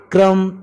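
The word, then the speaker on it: crumb: जाता है या फिर क्रम थम लिम में बी के बिना इस वर्ड को क्यों पढ़ा जाता है आखिर इन सब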